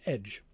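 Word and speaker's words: ecg: um except it's CG um in in in old English like E CG um which is what it which is a word for sword which is just pronounced edge.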